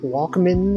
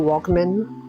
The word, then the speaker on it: Walkman: Are they making, like, new Walkmans? Walkman pronounced like Pikmin.